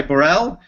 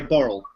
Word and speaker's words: Burrell: Well, it's a Scottish pronunciation, but most people say Burrell, but I actually say Burrell.